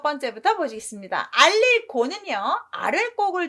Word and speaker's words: 告: 윗사람이 아랫사람한테 뭔가를 알려주면 알릴 고지만 아랫사람이 윗사람한테 무엇입니다 라고 말을 해드리는 건 제가 알겠습니다 라고 하면서 높임말로 곡 발음을 합니다.